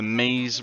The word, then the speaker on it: Mies: Let's go take you over to the Mies rhymes with cheese.